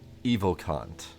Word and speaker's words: Evocant: It's technically evocant, but I kept accidentally mispronouncing it.